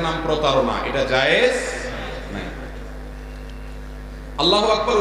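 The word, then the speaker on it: الله أكبر: আল্লাহু আকবার উচ্চারণ করার সময় আকবরের রাকে টেনে পড়া ঠিক হবে কিনা? না, ঠিক হবে কেন? তাকবীরের সাথে বলতে হবে আল্লাহু আকবার, আল্লাহু আকবার, এরকম বলা যাবে না।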